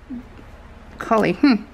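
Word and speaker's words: Kolly: this is called cauli cauli collie but it's spelled k-o-l-l-y that is weird i've never heard anyone called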